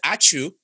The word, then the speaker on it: ačiū: time, and this is ačiū, this is thank you in Lithuanian, and pronounce ačiū, so basically when we thank, we sneeze, apparently.